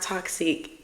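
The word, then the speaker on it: toxique: you can find me at underscore t-o-x-i-q-u-e it's pronounced toxic guys it's French for toxic but I'm not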